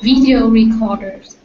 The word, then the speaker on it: video recorder: Jay I think it's the video recorders video recorder is on the the first one the V the video V or the V not V but V video video good but say but I got to hear the E too so video video that's it good because I wasn't hearing